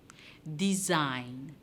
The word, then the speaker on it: design: the word debate design design design design do you hear the sound do you hear the sound comes from the letter g but we're not hearing that so g in the word design is silent our hour if you